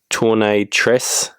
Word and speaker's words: Tournis Tresse: So this particular model is the Tournis Tresse, is how it's pronounced, I believe.